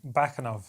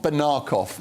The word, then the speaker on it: Bakanov: Give me the official pronunciation of your name. Bakanov. Bakanov, not Banakov.